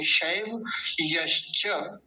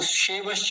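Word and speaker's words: शैब्यश्च: य का विशेष ध्यान रखेंगे क्योंकि इसको बोलने में कई बार य गायब हो जाता है, शैवश्च ऐसे बोल देते हैं लोग, ये गलत है। शैव्यश्च, शैव्यश्च, शैव यश्च। हल्का सा शुरू शुरू में गैप ले लीजिए, शैव यश्च बोलेंगे ना तो ये परफेक्ट उच्चारण होगा इसका, शैव यश्च।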